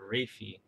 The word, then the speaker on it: raphe: this outer Ridge the raphe so the sound looks like graph let's pronounce something like Reiki I know it's like